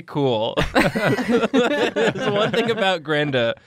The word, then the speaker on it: Grenda: Who's playing Grendan Highforge. It's actually Grenda now. Oh, okay. Yeah, I apologize. So yeah. It's Grenda. Major changes are afoot. Yeah. It's still spelled the same. The N is just silent.